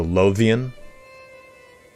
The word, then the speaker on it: Lothian: just for your information, Lothian, the TH is said like the TH in the. So Lothian. And the low is like low. Lothian.